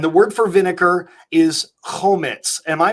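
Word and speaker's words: חומץ: the cross and the word for vinegar is Komets am i pronouncing that correct yes yes Komets the Messiah he willingly drank it home it's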